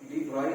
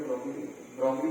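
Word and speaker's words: de Broglie: तो this waves matter के साथ जो वेव्स एसोसिएटेड है उसको मैटर वेव से डी, मैंने प्रोनाउंसिएशन सीखा था, डी ब्रॉई बोलती है, ब्रॉगली तो नहीं बोलते, मैटर याद है, इसको मैटर वेव्स बोलते हैं, डी ब्रॉगली वेव्स बोलते हैं।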